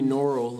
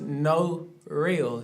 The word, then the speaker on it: Norel: They be calling me Norel and stuff. Yeah. My mama I like my name to be pronounced No Real. 2 syllables. You got the no and then you got the real.